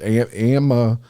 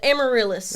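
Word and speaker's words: amaryllis: you name it and I can't even pronounce the first Amma amarus oh the amarillis amarillis that was close amarillis wave yes I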